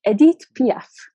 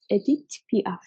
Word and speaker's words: Edith Piaf: And I want to pronounce Edith properly. Edith Piaf. Edith Piaf.